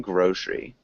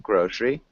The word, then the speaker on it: grocery: the only small thing grocery can you repeat grocery yeah grocery grocery good again so this er sound we don't really pronounce sorry um but yeah so grocery grocery but good and common yeah